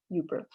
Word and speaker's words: Yooper: As you no doubt know, the name derives from the pronunciation of the acronym UP with right? So a person from the UP, Yooper.